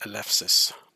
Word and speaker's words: Eleusis: I think in Greek it's actually pronounced Eleusis, but that's how we write it in English.